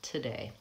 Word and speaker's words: today: before same thing with two and today I don't say today although I do hear many of my clients saying that I reduced that vow to a schwa today so same thing for today tonight tomorrow because it's unstressed the vowel from gets reduced from ooh to the vowel ah today so today and before